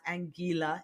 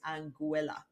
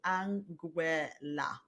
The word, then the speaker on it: Anguilla: But no, it is not Anguilla; it is Anguilla. All right, so Anguilla. That is the correct pronunciation of the name.